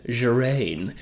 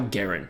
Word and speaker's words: Guerin: And I had to double check how to say this because I read that as Gerain. I guess we're forgetting the Y's there, but that's fine.